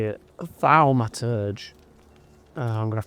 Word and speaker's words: Thaumaturge: Thalmaturge.